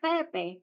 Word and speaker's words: Pepe: ni Maria Ayan and in Spanish yung pi pronounce as PE kaya PE PE next Mr Jose Sino